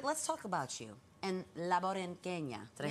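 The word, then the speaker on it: La Borinqueña: But let's talk about you and La Borinquena.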